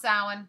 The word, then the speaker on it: Samhain: for those of you who don't know it's pronounced salad even though it is spelled s a.m. h AI n that's pronounced salad sorry just the way it is I know